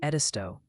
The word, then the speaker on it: Edisto: And by the way, chat's gently reminding us that Edisto Island is pronounced Edisto.